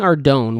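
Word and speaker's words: Ardougne: go with that one pronouncing Ardon without the H is like pronouncing both without the L or pronouncing espresso without the X any other pronunciation should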